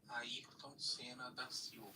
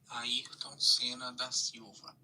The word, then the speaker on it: Ayrton Senna da Silva: So let's get his correct pronunciation. Ayrton Senna da Silva. It's all no. Ayrton Senna da Silva.